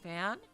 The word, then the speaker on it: fin: i thought it was finn because you know finn is like you know finale final but finn in french is pronounced fan really are you serious